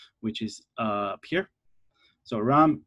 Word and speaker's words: Reims: So Reims, Reims, if you can pronounce it properly, is up here in the